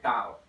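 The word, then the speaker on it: tau: हूं W से और टॉर्क को रिप्रेजेंट कर रहा हूं, this symbol is called टाउ। ठीक है, आप इसको कुछ इस तरीके से प्रोनाउंस करते हैं, टाउ, इट्स नॉट टॉ, TAAU, टाउ।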